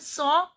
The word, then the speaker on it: sont: Ils sont, T is silent.